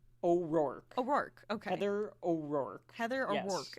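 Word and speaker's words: Heather O'Rourke: oror it's Heather o am I saying it wrong yeah I think so Heather or work Heather or work Heather or work is there's Anu o apostrophe r o u r k e oor oor okay Heather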